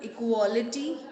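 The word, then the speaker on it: equal: ये जो वर्ड्स है ना, अब इक्वल, इक्वालिटी, इक्वलाइज, इक्वलाइजेशन, इन सारे वर्ड्स का pronunciation will be like this. इक्वल, इक्वालिटी. तो इक्वल जब हम पढ़ रहे हैं तो बेसिकली हमने स्ट्रेस पहले वर्ड पर ही दिया और किसी पर नहीं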